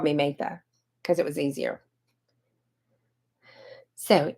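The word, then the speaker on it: Mathai: as you can tell my name is MAA m a t h a i get Martha MAA maah you know all of those things but it's okay I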